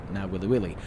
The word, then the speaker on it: Nawiliwili: that's Hilo I need to go over to now willy willy which I hate cuz I don't think I'm pronouncing it correctly and the last thing I